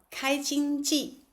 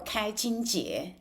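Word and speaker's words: 开经偈: So 开经记 or 开经节, this word has two ways of pronunciation.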